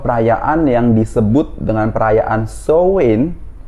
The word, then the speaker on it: Samhain: yang disebut dengan perayaan show in atau ditulisnya itu samhain kwen tapi dibacanya show in the the show Ini adalah